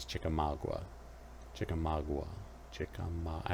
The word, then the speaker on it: Chickamauga: chickamauga ah i suppose it's on which side of the mason-dixon line how you pronounce it i think the north pronounces it as chickamauga and i think the south pronounces chickamauga chickamauga chicken i like